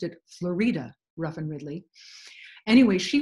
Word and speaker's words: Florida: her daughter and I mistakenly said this was Florida Ruff and Ridley but I found out that she pronounced it FL Ruff and Ridley anyway she was her daughter